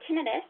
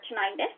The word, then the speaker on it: tinnitus: So tinnitus, or tinnitus, some people pronounce it a little different, is ringing in the ears or a head noise.